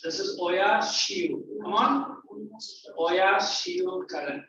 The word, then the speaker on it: Oyashio: And this, how do you pronounce? This is Oya Shio.